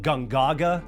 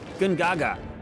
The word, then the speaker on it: Gongaga: I've been pronouncing Gongaga incorrectly, well, since the beginning.